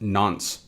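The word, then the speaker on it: nonce: on from that we have this n nce pronounced nons so what is the nons a nons is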